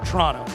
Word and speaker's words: Toronto: your pronunciation Toronto down you don't even worry about the last tee just Toronto Toronto Toronto there it is Toronto